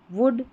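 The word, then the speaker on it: would: यहां पर ओ यू का जो है उच्चारण होता है और इसमें जो एल आता है इन स्पेलिंग्स में यह साइलेंट रहता है। इन इस एल का उच्चारण नहीं होता है।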